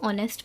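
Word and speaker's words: honest: अगर हम ऑनेस्ट में से इसको ऑनेस्ट पढ़ते हैं, अगर हम इसको में से एच हटा दें तो भी ये ऑनेस्ट ही रहेगा, अगर एच लगा दें तो भी ये ऑनेस्ट ही रहेगा। यहाँ पर जो एच है वो हा की साउंड नहीं करता है, वो साइलेंट है।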